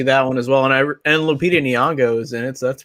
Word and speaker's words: Lupita Nyong'o: I want to see that one as well, and Lupita Nyong'o is in it, so that's pretty cool.